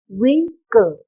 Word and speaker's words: vehicle: Actually, H is there here, but when you are pronouncing the word vehicle, you are breathing upon that. We are breathing. You are upon the H sound. You're not pronouncing that sound. So you're just pronouncing that vehicle.